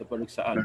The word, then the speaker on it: peperiksaan: We don't pronounce K. Yes, the K is like E.